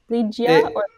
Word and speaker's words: Lygia: How do you pronounce it? Is the G hard or soft? Lygia.